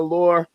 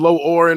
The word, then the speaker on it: Lore: It's Nina Lore. I'm finally saying it right after knowing her for almost a decade. You know what I'm saying? I've been messing it up forever. I've been low oring her forever.